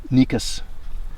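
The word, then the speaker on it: Cnicus: the um cardus benedictus nicos nicus benedictus is the i think the current name it's c-n-i-c-u-s but the c is silent so nico's benedictus and it's one of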